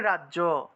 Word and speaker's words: রাজ্য: আমরা বাংলাতে উচ্চারণ করি রাজ্য এভাবে রাজ্য উচ্চারণ করে ফেলি রাগ দুইটা বর্গাজ্য লাগিয়ে দেই বর্গীয় দুইটা লাগিয়ে দেই রাজ্য উচ্চারণ করে ফেলি এটা রাজ্য হবে না উচ্চারণ হবে রাজিয়া রাজ যোগ ইয়া রাজিয়া